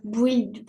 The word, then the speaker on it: build: me le reprononcer le le U tu le prononces pas c'est build build build Buil build